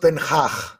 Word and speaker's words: Ten Hag: It's pronounced Ten Hag. I'm sorry, but the Dutch people have a really weird. Yeah, it's Hag. It's Hag.